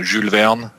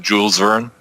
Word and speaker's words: Jules Verne: big fan of uh julveon uh english usually pronounced jules verne 20 000 leagues under